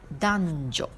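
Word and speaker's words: 男女: Alors, hommes et femmes, on dit danjo.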